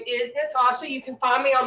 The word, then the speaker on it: Nataushia: State Track M and they would pronounce my name Natalia how do you get Natalia out of Natasha but you know to